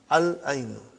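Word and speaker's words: العين: We pronounce lam. Al-ainu.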